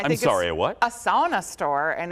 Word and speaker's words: sauna: A sauna store, and if you're Finnish, you say sauna. Sauna, yeah, that's. Sauna. I've been corrected many. That's the right. That's the correct pronunciation.